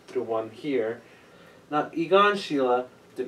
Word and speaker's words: Schiele: other than egon sheila i said you got shield but i just looked it up how to pronounce it and it's sheila or sheila and if it's i'm